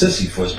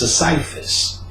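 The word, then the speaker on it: Sisyphus: up sisifus which they said people think it's sisifus but it's pronounced cipus M so you read his mythology he he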